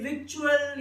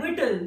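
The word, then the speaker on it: victuals: तो ये जब इसे पढ़ते हैं तो ज्यादातर बच्चे इसे विक्चुअल या विक्चुअल कुछ पढ़ते हैं। तो ये वर्ड है विटल। विटल इज the pronunciation of the word.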